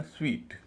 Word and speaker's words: suite: इसका सही उच्चारण स्वीट। वही जो एस W double E टी यानी मिठाई के मामले में इस्तेमाल होता है।